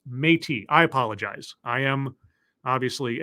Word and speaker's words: Métis: Metis is pronounced Métis.